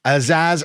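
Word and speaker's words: Azaz: the area um or aaz not Aziz have I been calling him Aziz the whole Time Finn aaz I've signed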